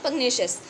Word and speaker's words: pugnacious: उसको हम बोलते हैं पग्नेशियस. पग्नेशियस में जो स्पेलिंग आती है PUGNACIOUS, जो नेशियस आ रहा है वो नेक्सल्स जैसा साउंड करता है. नेशियस, नेक्सल्स, नेशियस, नेक्सल्स, नेशियस, नेक्सल्स.